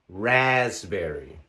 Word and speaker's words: raspberry: There are also words spelled with the letter P that are unvoiced. For example, pneumonia, pneumonia. Receipt, receipt. Raspberry, raspberry. Cupboard, cupboard. Psychology, psychology.